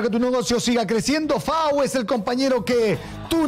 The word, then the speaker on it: FAW: FAU se escribe FAW y se escucha FAU.